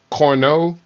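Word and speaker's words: Cournot: so that is caused this Corno or corot you could pronounce it if you that but is a French word Corno competition that has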